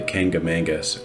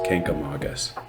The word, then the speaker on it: Kancamagus: among visitors and locals while many call it the kangamangas or cancamangus the true pronunciation is kenkamagus locally known as the